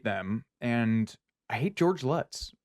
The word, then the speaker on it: Lutz: and I hate George Lutz it's cosmically hilarious his name rhymes with putts yes because like the